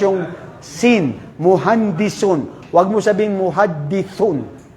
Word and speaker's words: مهندس: Hindi nila ma-pronounce yung sin muhandisun.